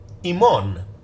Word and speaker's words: ἡμῶν: form indicating that this is a direct object iman you're going to see this word over and